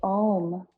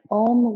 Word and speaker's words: Om: So taking a breath in, and when we exhale, it's good to pronounce the Ow, and then you close with the M.